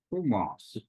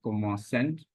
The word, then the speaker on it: commencent: Again, you have to keep in mind that this E, this ES, this E, and this ENT will not be pronounced. So it can't be il commencent. It will be equal to il commence.